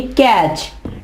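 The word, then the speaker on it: catch: कैच नहीं कहेंगे हम कहेंगे कैच। T क्या है, साइलेंट।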